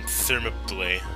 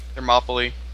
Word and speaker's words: Thermopylae: No, I'm on Thermopylae. I've never known how to pronounce that. Thermopylae.